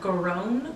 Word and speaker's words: Grone: Today, I'm going to be talking about the Grown family murders. Have you heard of that? Grown? Grown. Like you're grown up? It's spelled Grone, but pronounced grown, like Grone.